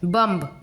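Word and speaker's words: bomb: बम, BOM बम इतने तक pronunciation हो रहा है, B का प्रोनाउंसिएशन नहीं हो रहा है।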